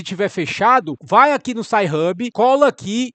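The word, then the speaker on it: Sci-Hub: Como é que se escreve SHub?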